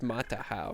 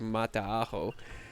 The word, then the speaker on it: Mataaho: from New Zealand to tell me that it's pronounced matahau instead of Mata but uh yeah today we're building for the